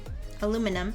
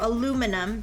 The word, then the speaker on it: aluminum: tend to put emphasis I think cuz we tend to put emphasis on the uh on the second syllable. I think that's why. So aluminum that's that feels more natural.